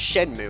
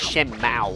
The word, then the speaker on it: Shenmue: You know, I know to pronounce it as Shenmue instead of Shenmue or something, because the main characters,